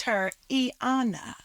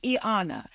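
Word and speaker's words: Y'Anna: said I named herana it's aana like like evet so the Y is pronounced as an e the apostrophe separates the E to give you a little saah moment and come in with the Anna so it's an it's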